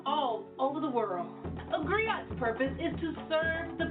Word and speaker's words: griot: A griot It's pronounced griot, or in English, a griot.